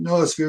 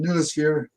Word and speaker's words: noosphere: Some people pronounce it noosphere, some pronounce it noosphere. I've heard even people that are quite expert in this understanding of Teilhard call it the noosphere, but I think either one is quite acceptable.